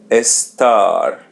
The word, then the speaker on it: estar: Este you see there's a letter E or E in English. So pronounce it E S S and the letter R in the end we pronounce it as English R estar estar.